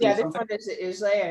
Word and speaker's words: Islay: I don't know why I said Islay, but yeah, Isla, yeah. imagine the Y is not there. Yeah. And then pronounce it like Isle.